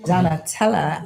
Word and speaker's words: Donnatella: Turning it over to you, Donnatella. Oh my goodness. I wish everybody saying my name that way. Donnatella. I love that.